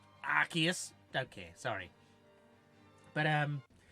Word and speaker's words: Arceus: that that was fun I think that one you're supposed to pronounce it Arceus don't care sorry but